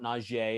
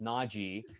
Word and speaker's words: Najee: the entire time right it's not najee it's naji but uh i